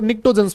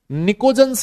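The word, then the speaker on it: pnictogens: इनको निकट्टोजंस भी बोला जाता है। पी साइलेंट होता है। निकोजंस या फिर निकट्टोजंस। है ना? एक ही बात है।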